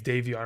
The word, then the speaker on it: Davion: Is it Xavier or Davion? I think it's Davion. I think I just mispronounced it. It's Davion Mitchell.